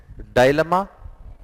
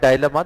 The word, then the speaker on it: dilemma: Dilemma, some people call it dilemma, the actual pronunciation is dilemma.